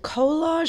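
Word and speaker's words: Kolaj: was a residency for is it kollage in New Orleans how do they pronounce right k o l a j I didn't realize I had been mispronouncing so sorry but so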